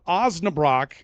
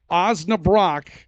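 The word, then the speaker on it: Osnabrock: Mark uans has selected OAB Brock and I'm told it's pronounced Brock not Brooke OAB Brock OAB Brock which I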